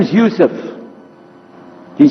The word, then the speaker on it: Yusuf: My name is Yusuf. Can you say Yusuf? You say Yusuf. Yeah, very good. I wish you'd teach my wife. She keeps mispronouncing it. She calls me useless.